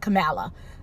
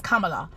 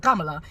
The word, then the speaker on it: Kamala: It's Kamala, because her Indian mother, she grew up with an Indian mother, and if you go anywhere in India, if they see that word, they're gonna pronounce it Kamala.